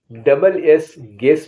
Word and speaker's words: guess: You silent वाले आपको अक्षर बताने वाला हूं, जिसमें यू साइलेंट होगा। ऐसे वर्ड्स कौन कौन से हैं? GUARD गार्ड माने चौकीदार। GUESS गेस माने अनुमान।